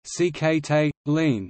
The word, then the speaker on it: Sikhote-Alin: Sikhote-Alin Nature Reserve, Russian pronunciation, Sxtl-in, English, Sikhote-Alin, is a biosphere reserve in Primorsky Krai.